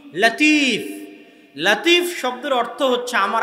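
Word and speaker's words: لطيف: তাহলে আব্দুল লতিফ নামে নাম আছে মানে লতিফ আল্লাহর নাম। কিন্তু সঠিক উচ্চারণ হচ্ছে লাতিফ। সঠিক উচ্চারণ কি? লাতিফ। লতিফ এটা সঠিক উচ্চারণ নয়। লাতিফ হচ্ছে সঠিক উচ্চারণ।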